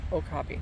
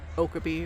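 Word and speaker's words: okapi: Also, I just want to point this out cuz I've heard people pronounce it different ways and sometimes I question myself, but it actually has pronunciation here. O copy. So, okopy. That's how I say it. So, I'm going to say I'm right and other people that I've heard pronouncing it okabe or whatever are wrong.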